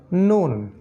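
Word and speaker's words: نون: তারার মতো এটা হলো নুন এটা হলো নুন আর নুন উচ্চারণ করতে গেলে নাকটা ব্যবহার করতে হবে নুন নুন নুন ঠিক আছে মূলত নাক বন্ধ করে ফেললে নুন উচ্চারণ করা সম্ভব হবে না এটাই হচ্ছে নুনের বৈশিষ্ট্য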